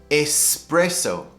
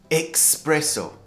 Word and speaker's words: espresso: A lot of native speakers make a mistake with this. They say espresso. Espresso. I guess they get confused by the word express, meaning they get a shot of coffee and it gives them the caffeine really quickly. Espresso. But it should be pronounced espresso.